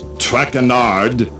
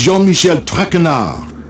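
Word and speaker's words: Jean-Michel Trenard: butchered while I eat as for my name not track andard it is Jean Michelle trenard Jean Michelle trenard TR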